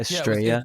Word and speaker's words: Estraya: Yeah, basically, and you just swap out the 2 L's for a Y, and there you go. I just liked how it sounded being pronounced like in a non-Spanish speaker way. Yeah, Estrella.